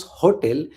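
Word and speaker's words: hôtel: So in English we pronounce hotel but in French we pronounce hotel. Hotel we don't pronounce H.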